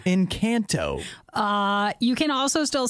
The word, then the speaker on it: Encanto: say it like that what do you mean that's how it's pronounced it's the name of the movie in kanto uh you can also